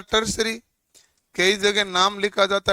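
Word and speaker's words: tertiary: अब इसको प्रोनाउंसिएशन तो होता है टर्सरी, कई जगह नाम लिखा जाता है टर्सरी संयोजन भी।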